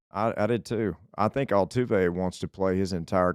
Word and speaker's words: Altuve: I think Altuve wants to play his entire career here.